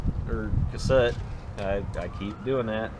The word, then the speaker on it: Cassutt: see and uh for you guys building the cassette or cassette i i keep doing that you know it's um it's been been asked how you pronounce it is c-a-s-s-u-t-t it's cassette and it's a 111m and that i think